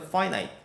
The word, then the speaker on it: finite: 발음 조심하셔야 돼요. finite.